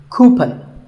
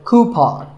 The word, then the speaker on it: coupon: of these a coupon a common incorrect pronunciation is coupon but the second syllable should be pawn so coupon here's word number 16.